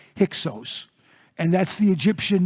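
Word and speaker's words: Hyksos: we call them the it's actually it's a long o not hickos but hixos and that's the egyptian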